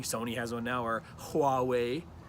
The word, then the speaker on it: Huawei: has one now or Huawei it's pronounced Hawaii with the H I asked my friend